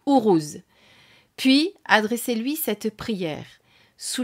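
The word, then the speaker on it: Uruz: reprises le nom urous alors c'est urous que ça se prononce ourous puis adressez-lui cette prière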